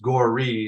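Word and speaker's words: Gorre: it's spelled g r r e but it's gory is how you pronounce it and defeated you know he spells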